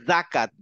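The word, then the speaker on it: زكاة: আজ হ্যাঁ আজ হ্যাঁ যেমন ধরেন যাকাত আমাদের বলার কথা ছিল যাকাত এখানে একটা থুতনিতে একটা বাতাস লাগবে যাকাত আমাদের বলার কথা ছিল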